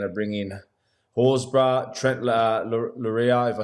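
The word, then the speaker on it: Loiero: I think they're going to bring in Horses, Trent Lura, if I said that right. How do you say his name? Trent Lero.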